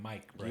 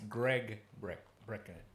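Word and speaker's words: Gary Brecka: Is I was calling him Mike Brecka. Yeah. It's Greg Brecka.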